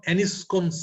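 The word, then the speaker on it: Anitschkow: Consisting of ফোকাই অফ T lymphocytes থাকবে, occasionally plasma থাকবে, plump activated macrophages, এটা আরেকটা আমার অ্যানিসকন সেলস, টি এর উচ্চারণটা হয় না, অ্যানিসকন সেলস।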